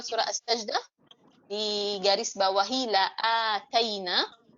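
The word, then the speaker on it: لَآتَيْنَا: Untuk yang tilawah surah As-Sajdah, untuk yang mau menghafal surah As-Sajdah, di garis bawahi la'ataina, karena la'ataina ini panjang ya. Ini bukan sekedar hamzah ada fathahnya, tetapi dipanjangkan 2 harakat.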